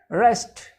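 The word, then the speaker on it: wrest: to the table carefully rest in the water as w is silent and rest means unhappy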